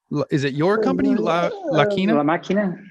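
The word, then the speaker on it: La Máquina: La Maquina? La Maquina. La Maquina.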